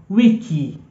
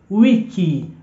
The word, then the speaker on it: wiki: week in Swahili is wiki wiki remember I told you in the alphabets that I is e e pronounced as e so anywhere you see a word written with I no it's e so wiki wiki and